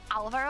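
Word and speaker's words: Álvaro: Do you know Alvaro? I think the accent is on the A because usually in Spanish it goes automatically on the second syllable. Um but it's on the first one just protecting you from the Spanish word.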